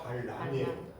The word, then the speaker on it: 발람: 왕 이름은 발락이고, 그 다음에 하나님의 뜻을 전한다라고 해가지고 부탁했던, 어떻게 보면 어설픈 선지자 하나가 발람이에요. 람과 라 차이예요.